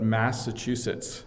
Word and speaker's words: Massachusetts: And I might even be pronouncing it slightly wrong because there's local pronunciations of different things, but Massachusetts is how I would pronounce it.